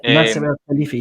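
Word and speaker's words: Nasser Al-Khelaifi: I honestly can't pronounce his freaking name. Nasser El Khalifi.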